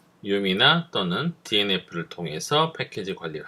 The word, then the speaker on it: yum: 그러니까 이쪽은 rpm이나 지금 요거를 보통 yam이나 yum 뭐 이렇게 발음해요. 중간 발음으로 보통 저는 yum이라고 발음합니다. yum이나 또는 dnf를 통해서 패키지 관리를 할 수가 있고요.